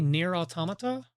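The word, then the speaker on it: NieR: Automata: I think near automata is the way you're supposed to pronounce it, but I probably emphasized the last T a bit too much.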